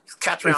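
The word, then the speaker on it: Caitríona: I can't pronounce the woman's name. Is it Kate? It's Catriona.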